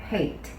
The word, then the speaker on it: hate: 자, 그래서 한꺼번에 읽어보면 hate. 자, 이런 발음이 나겠고요. 자, 끝에 있는 매직 E는 아까 처음에도 말씀드렸다시피 E는 소리가 나지 않습니다.